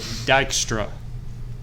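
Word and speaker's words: Dijkstra: that one nice nice Dykstra don't ask me why the J is there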